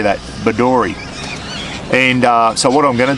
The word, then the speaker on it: Bedourie: Bedourie.